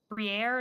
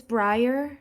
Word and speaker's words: Briar: Before we get started, is it Briere, or did I pronounce that wrong? Or It's Briar. Briar.